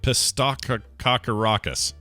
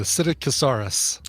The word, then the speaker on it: Psittacosaurus: Pistococcus. Yeah, you just don't pronounce the P. The Psittacosaurus.